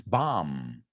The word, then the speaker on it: bomb: Just remember, don't pronounce that second B. It's not bomb. It's bomb.